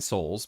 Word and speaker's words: Sols: the game is nine souls but souls is spelled s-o-l-s which means you know a son the the the son